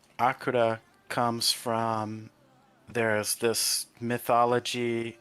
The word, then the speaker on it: Akurra: Alright, so could you explain what Akura is? And is my pronunciation correct? Is it Akura? Yeah.